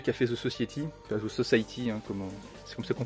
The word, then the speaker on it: Society: Ensuite pareil un film de Brian Yuzna, donc le mec qui a fait The Society, The Society, hein, c'est comme ça qu'on prononce.